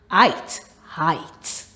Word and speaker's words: height: ight i height now in this word the e is silent height d delights tonight mid